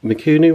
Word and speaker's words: Mikuni: So this is an original Mikuni one, that's how you pronounce it.